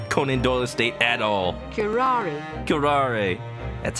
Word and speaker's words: curare: Curare. That's how you pronounce it.